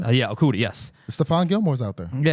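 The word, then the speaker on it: Okudah: I forgot how he's pronounced his last name. Okuda.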